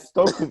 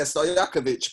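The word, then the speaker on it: Stojaković: they had Peja Stokovic. Oh, if I pronounce his name wrong, sorry, I forget that. No, you're forgetting. You should know him too. Yeah, Stojakovic, bro. Get it right. Stojakovic, that's it.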